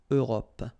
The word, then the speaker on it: Europe: Remember this final E, it's not really present. It only gives you the possibility to pronounce this P. PP at the end, okay? Europe.